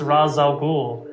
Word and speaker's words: Ra's al Ghul: Well, no, the problem is that it's an Arabic name, and the pronunciation in Arabic is Ra's al Ghul.